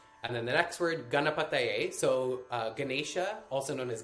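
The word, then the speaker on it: गणपतये: So the first three syllables, ga, na, pa, are all short A's. Ga, na, pa, not ga, na, pa. And then the ta is a long A. Ta, ta, not the. da. And then also on that syllable, the T, it's not the same T we have in English. It's not t, it's th. It's a more dental T.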